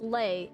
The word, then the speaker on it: Leyley: Lelay pronounced lei is the canonical pronunciation.